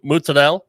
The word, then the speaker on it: mozzarella: uh that use fresh mozzarella sorry mozzarella that's all that's the correct italian pronunciation yes uh and there's